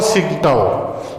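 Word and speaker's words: Tsingtao: देखिए पहले वाला चुंगकिंग था, ये चुंगचिंग है, ये याद रखिएगा, और सिंगटाओ, यानी कैंटन, कुनमिंग, चुंगचिंग और ये टी साइलेंट है यहाँ पे, तो सिंगटाओ।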